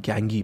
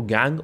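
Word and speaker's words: gangue: अब बात आते हैं गैंगी पे। देखिए इसको गैंग और गैंगी दोनों प्रोनाउंस कर सकते हैं।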